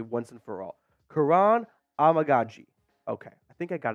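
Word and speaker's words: Kiran Amegadjie: say his name correctly once and for all Kuran amagi okay I think I got it down now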